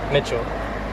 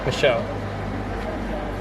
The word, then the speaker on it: Michel: of this church egis Saint Mitchell Michelle Michelle there's no T why did I say